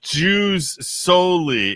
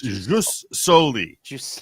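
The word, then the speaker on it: jus soli: how far Joe went it's not juw solely it's ju solely yes it's a Latin phrase yes yes and it's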